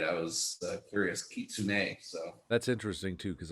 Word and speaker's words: kitsune: cool just uh to make sure i could pronounce it right i was curious kitsune so that's interesting too because i read a